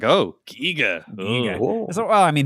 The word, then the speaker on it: Giger: I think it's Giger, but Giger?